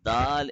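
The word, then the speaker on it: دال: good job and secondly don't produce the uh sound at the end not Dal it is DAL yeah say that dull not Dal don't say Dal don't release the tongue from the roof immediately slow it down no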